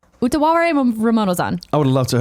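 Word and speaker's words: Utawarerumono: Zan: Cody J says it's pronounced Utaware Ramonozan. Okay. Utaware Ramonozan. Utaware Ramonozan.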